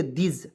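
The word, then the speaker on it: this: पे आएंगे यहां देखिए टी एच आई एस इसको क्या पढ़ेंगे दिस ठीक है अब कहिए देखिए टी एच को क्या पढ़ते थ नहीं पढ़ रहे यहां पे द पढ़ रहे हैं ठीक है द पढ़ेंगे और आई का प्रयोग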